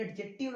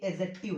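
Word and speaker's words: adjective: अब ये इसको बहुत लोग एडजेक्टिव पढ़ते हैं, ये एडजेक्टिव नहीं है, ये एडजेक्टिव है। ठीक है, एडजेक्टिव क्यों है, क्योंकि ए और जे के बीच में जब कोई साउंड आता है तो उसका प्रोनाउंसिएशन नहीं किया जाता इंग्लिश में, तो ये हो गया दोस्तों एडजेक्टिव।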